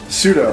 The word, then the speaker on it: pseudo: Pseudo. With the P, With silent. the P, yeah. P is silent, just like Michelle Pfeiffer.